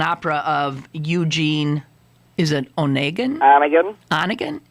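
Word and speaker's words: Onegin: a h an opera of Eugene is it Onan Anan Anan it's pronounced anigan uh anigan aagan Susan Eugene anigan anigan aagan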